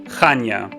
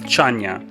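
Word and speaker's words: Chania: western part of cre is called Kana often mispronounced as chanya Kan became our base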